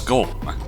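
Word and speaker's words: GOLM: He has to be referred to by that last bit, which is of course Golem. Much to his surprise, this ends up being pronounced like Golem anyway.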